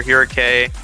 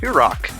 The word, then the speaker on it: Hirake: So far, contrary to what I said earlier, we're going to see Kilmo in for Hirake. And I forgot he told me last year that it's pronounced Hirok.